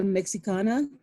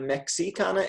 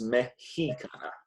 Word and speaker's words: mexicana: It's not Mexicana, it's Mexicana. Mexicana.